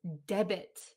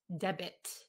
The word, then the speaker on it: debit: pronounce the word is debit debit d-e-b-i-t debit debit okay like a debit card debit card sometimes we um when we speak quickly the t at the end disappears a debit card um